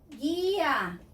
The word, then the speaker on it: guía: But if I combine it with a U, I get the G sound again for E and I. So, pague, pay. Guía, guide.